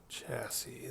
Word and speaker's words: chassis: So let's see, we're looking at a simple chassis, this bad boy. Hey, what do you know? So boom. The third S is silent.